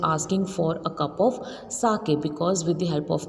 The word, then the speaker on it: sake: So the pronunciation of this word is sake, and what is the meaning?